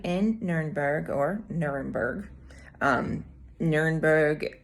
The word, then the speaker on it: Nürnberg: nuremberg or nuremberg um nurenberg i believe i'm pronouncing that correctly is the way it is said in german and then you know we americans call it nuremberg so this airbnb is